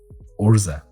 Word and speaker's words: Urza: Or Urza. There's a pitch in the pronunciation that I'm not quite getting, and it's really bothering me. Urza. Yeah, there you go.